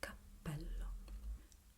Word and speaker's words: capello: Capello. Capello. Capello. Try and concentrate now on the P, on the double P.